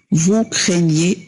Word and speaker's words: craignez: donc craignons، nous craignons، vous craignez، و GN تنطق نيو في اللغة الفرنسية.